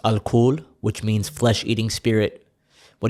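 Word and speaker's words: الكحل: By the way, in Arabic, alcohol is pronounced al-kuhl, which means flesh-eating spirit.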